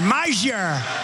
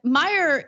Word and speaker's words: Meijer: I'm guessing that the silent J is what kind of throws him off. And maybe he thinks it's like a Latino name, who knows? But it's actually a Dutch name.